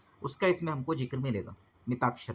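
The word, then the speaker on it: मिताक्षरा: मिताक्षर, हालांकि लिखते ये हैं लेकिन उच्चारण इसका मिताक्षर होगा।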